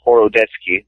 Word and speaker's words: Horodecki: ago he kept saying hori I thought it was horod deski who's got it right uh you know the the actual pronunciation is is horoi but it is what